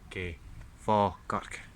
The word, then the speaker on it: Falkirk: the L, and so when it came to fa, they added this L that should never really be there. So it should be F-A-K-I-R-K, Falkirk.